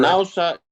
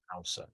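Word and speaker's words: Naoussa: Nassau, is that pronounced correct? Nassau is the region, the appellation. Yes. Nassau.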